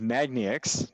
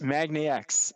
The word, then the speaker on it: MAGNIX: we're joined now by roy goncarski ceo of magnetics did i get that right roy x magnax i just learned that i was pronouncing it wrong roy it's really good to